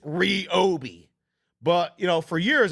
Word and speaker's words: Ryobi: fine here's a question for you is it pronounced Ry OB or is it reob the brand says it's R Obi but you know for years I was calling it Ryobi like Ryobi One Kenobi but I was told